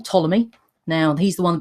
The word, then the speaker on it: Ptolemy: with the weird name Ptolemy now he's the one begins to the P doesn't look like it's fit that she pronounced Ptolemy but it is and he also believed